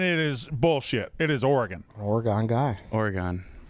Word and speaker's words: Oregon: It is Oregon. An Oregon guy. Oregon. Your emphasis is on the wrong syllable.